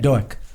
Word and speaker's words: Doak: Doak.